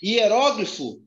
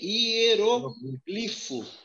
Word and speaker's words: hieróglifo: Palavras têm dupla prosódia. Hieróglifo, você pode falar também hieroglifo. Hieroglifo. Hieroglifo, paróximo terminado em O. Então, tem uma dupla pronúncia aqui, ó. Hieroglifo ou hieróglifo. Historia ou história.